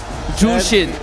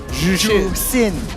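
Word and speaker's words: Zhuxin: Okay, how do you pronounce Z-H-U-X-I-N? Jushin. It's not Jushin. Jusin. Boo!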